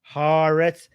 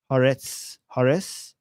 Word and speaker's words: Haaretz: Haaretz. Why am I pronouncing this wrong? I've seen people call it Haaretz everywhere else. Like, why am I really pronouncing this wrong? Every time I say Haaretz, people in the chat are trying to can